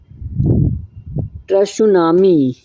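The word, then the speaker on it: tsunami: इसके बाद आता है सुनामी, जिसको कहते हैं त्सुनामी। सुनामी एक जापानी शब्द है। त्सुनामी उच्चारण सुनामी, जिसका मूल शब्द है बंदरगाह की लंबी लहर।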